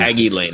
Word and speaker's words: Hagy Lane: Hagy Lane. Yes. Hagy Lane. Okay, perfect. I just want to make sure I got the pronunciation right.